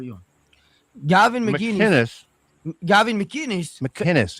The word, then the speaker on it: McInnes: McInnes. It's a hard C. McInnes? Yeah, there's no G's.